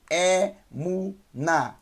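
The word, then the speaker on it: אמונה: num com o câmera Lembrando que o rei no final da palavra não tem som assim como o ali então eu tenho é munnar é munnar é muna primeira Silva É segunda sílaba mesmo mais Umo terceira sílaba em mais a na emunah é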